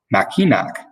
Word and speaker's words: Mackinac: such as mackinac or machinac today a special place we know as mackinac island is always pronounced machina regardless of its spelling and people of all